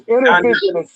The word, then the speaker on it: Innervizio: It's intervision. It's intervision. It's spelled INNERVIZIO.